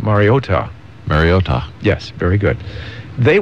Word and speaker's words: Mariota: Mariota. Fine. Mario. Ta. Ta. You got to get the ta there. Not Mario accent on the last syllab. Mariota.